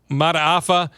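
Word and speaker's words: Mata'afa: Mataafa.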